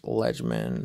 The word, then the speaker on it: Lejman: Last name is pronounced Legman, spelled LEJMAN.